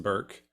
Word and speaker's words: Bjorky: Bjorky? Sure. Yes, it's pronounced Burke.